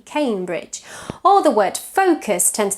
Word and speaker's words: Cambridge: A very frequently mispronounced word is the word Cambridge, for example, which tends to be pronounced Cambridge, but it's Cambridge.